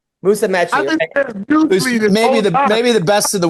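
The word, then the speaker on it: Musumeci: Yeah Musamei. Musamei maybe the best in the world at his at his weight.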